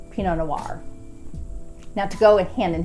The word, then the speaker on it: Pinot Noir: For those of you that do not know, this is a French name, and in French, in almost all cases, they do not pronounce any consonants at the end of words unless there's a vowel thereafter.